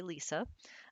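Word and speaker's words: Lesa: just lisa is fine it is spelled l-e-s-a but it's pronounced the usual way lisa the story behind that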